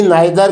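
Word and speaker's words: neither: बोल देते हैं, लेकिन आर का उच्चारण बहुत ही हल्का होता है जो सुनाई न दे।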